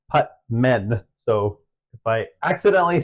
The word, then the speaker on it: Putman: S was Wyatt Putman I keep I keep wanting to say putam because I know a putam guy but it's putt men so if I accidentally